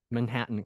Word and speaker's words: Manhattan: Can you pronounce it again? Manhattan.